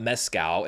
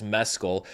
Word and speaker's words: Mescal: the entire award season it's not Mezcal it's Mescal we've had Stephanie's shoe